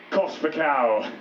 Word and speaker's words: Kospakow: So this will be the only time you ever hear me tell you how this one is pronounced. This song is called Kospakow.